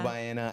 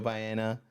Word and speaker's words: Baena: Joe Baena, at Joe Baena. Wow, I said it with the worst accent. It's okay. It's okay. If you pronounce it Baena. Baena. Baena. Yeah. It's just not Baena.